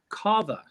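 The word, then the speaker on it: Cava: Carver, I think it's pronounced Carver.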